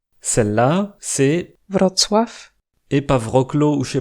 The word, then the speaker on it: Wrocław: Celle-là, c'est Wrocław, et pas Wrocław ou je sais pas quoi.